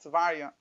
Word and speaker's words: Teveriah: The Rebbe used to pronounce it Teveriah.